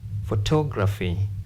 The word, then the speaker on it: photography: in Cy democracy visibility photography psychology in this case if you find words ending in these letters stress anti penultimate stress anti penultimate anti penultimate means before penultimate or third last counting from right or you